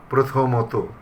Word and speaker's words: প্রথমত: সেসব ক্ষেত্রে সে সকল শব্দের উচ্চারণে সাধারণত ওকারান্ত হয়। যেমন প্রথমত, আগে বিসর্গ দিয়ে লেখা হতো, শেষে একটা বিসর্গ থাকতো, প্রথমত এরকম ছিল। তাহলে আমরা এখন সেইভাবে তো বলবো না, আমরা বলবো প্রথমত, বস্তুত, দ্বিতীয়ত, শতত, প্রণত, প্রায়শ।